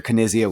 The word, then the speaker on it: Knizia: Brandon, do you realize that you're pronouncing his name incorrectly, Knizia.